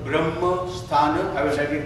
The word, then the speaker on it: Brahma: Okay, I will pronounce for you. It's a B for Bill, R for Roy, A for Apple, S for Harry, M for Mary, A for Apple. So it's Brahma, and the last word